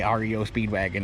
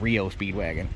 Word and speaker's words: REO Speedwagon: That's why it bugs me when people say REO Speedwagon. That's not how you pronounce it. It's Rio Speedwagon.